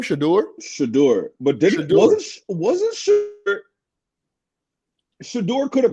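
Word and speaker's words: Shedeur: How do you pronounce his name? Shador? Shador.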